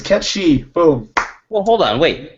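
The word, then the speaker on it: Cait Sith: Ketchi is how Kate Sith is pronounced.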